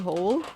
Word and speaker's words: whole: whole and not the whole no it's the whole w a silent w yeah exactly holiness that's